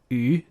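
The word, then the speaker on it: 鱼: But then also fish in Chinese is pronounced yu. Sounds the same.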